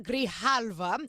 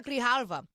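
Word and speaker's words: Grijalva: That really matters because today, Representative Adelita Grihalva, I hope I pronounced her name correctly.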